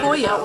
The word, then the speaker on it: pollo: Because a double L in Spanish is pronounced as a Y.